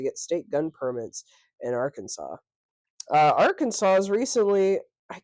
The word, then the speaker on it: Arkansas: time I see it I want to say AR Kansas that's fair because it is spelled like Kansas with R in front of it um but I